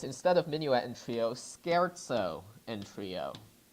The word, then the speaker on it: scherzo: Sometimes Beethoven plays on this theme and writes a third movement that is, instead of minuet and trio, scherzo and trio. S-C-H-E-R-Z-O is pronounced scherzo.